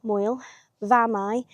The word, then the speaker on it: Moel Famau: So it's uh spelled m o e l, Moel, Famau, f a m a u, I do believe. Uh so the f is pronounced as a as a v, Moel Famau.